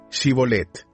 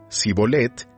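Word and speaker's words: Shibboleth: Si él contestaba: No, ellos decían: Muy bien, di Shibolet. Si decía Sibolet, porque no podía pronunciar la palabra correctamente, lo agarraban y allí mismo, en los vados del Jordán, lo degollaban.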